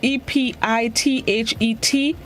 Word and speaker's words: epithet: It's spelled E-P-I-T-H-E-T, epithet.